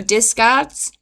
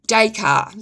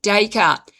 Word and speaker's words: Descartes: This is why the philosopher, it was a French, Rene Descartes or Descarts, famously concluded, "I think, therefore I am." Decart, sorry. I mispronounced his name. Rene Decart.